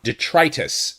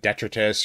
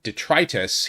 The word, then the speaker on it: Detritus: or mercenary junkie on detritus is the character and I've mispronounced it before in the past in the past I said I said detritus or something like that but the fact that